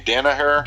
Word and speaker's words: Danaher: Danny how do you say that guy's name Danaher John Danaher yeah okay so he was on